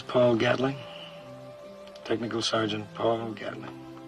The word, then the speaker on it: Gatling: Technical Sergeant Paul Gatling. Down in Georgia, we pronounce it Gatling.